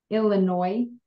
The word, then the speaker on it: Illinois: did you say Illinois Illinois Illinois did you say that yes okay you don't pronounce the S at the end did you take organ